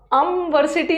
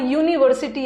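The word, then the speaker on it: university: तो सही है बट यहां का प्रोनंसिएशन अमीन अमीनस बोला भी नहीं जा रहा अमवर्सिटी नहीं आ रहा यहां यूनिवर्सिटी आ रहा है यू यू य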